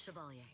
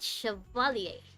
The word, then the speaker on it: Chevalier: Chevalier. That's how you say it, Chevalier.